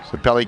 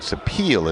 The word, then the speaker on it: Sapelli: Well, they'll take them all and line them up according to time, but Sapelli continues the lead. Actually, I believe it's Mary Kate Sapeel is how you pronounce her name correctly, out of Old Saybrook.